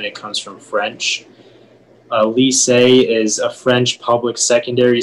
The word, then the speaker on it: lycée: Yeah, so the only pronunciation is lise. It's a noun and it comes from French. A lycée is a French public secondary school that prepares students for university.